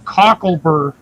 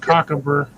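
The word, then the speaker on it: cocklebur: Oh, cockle burr. Yes. Not cockab. Yeah. Well, it's it's a it's better pronunciation for where you're from.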